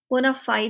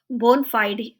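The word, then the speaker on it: bona fide: टे व्यू पुना फाइड बोनाफाइड नहीं बोना बोन फाइड फाइड है य बोनाफाइड नहीं बोन फाइड लेटन फ्रेज है बहुत कॉमन कॉमनली यूज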